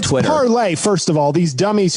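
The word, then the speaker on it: Parler: know it's not twitter parlay first of all these dummies who started it it's spelled p-a-r-l-e-r which is parlay in french which means to speak they call it parlor i don't know if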